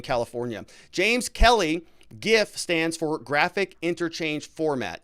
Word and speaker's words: GIF: Garrett Dusman says, "The gentleman that created GIF said himself that it's pronounced with a J sound. GIF, just like peanut butter.